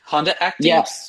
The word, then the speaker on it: Honda Acti: we'll get Dave to bring his Acti Honda Acti.